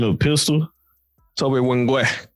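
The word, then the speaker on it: Nwigwe: Toby Wingwe. Right. Don't pronounce the N, the inside. Wingwe.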